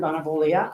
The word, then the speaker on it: Bonavoglia: to 5 minutes, Bonavoglia. I gotta tell you, I'm impressed. The G is silent. It's only there to confuse you.